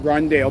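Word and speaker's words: Rondale: Rondell. Rondell. It's spelled capital R-O-N-D-A-L-E.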